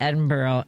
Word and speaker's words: Edinburgh: I was in security coming out of Edinburgh and there was these two guys.